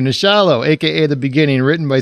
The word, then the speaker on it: Nachalo: uh discuss nasholo now how do you say it troy the shallow thank you nishallah aka the beginning written